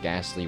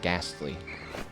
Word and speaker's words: Gastly: Today I learned that Gastly is not spelled with an H. I think my whole life I thought Gastly was spelled with an H. It's literally Gastly, not Ghastly. Gastly. Not Gahastly.